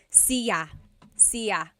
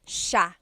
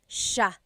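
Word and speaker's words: siya: It looks like it should be pronounced sa cia, but it's actually pronounced sha sha. So the s i y, it's a sha sound.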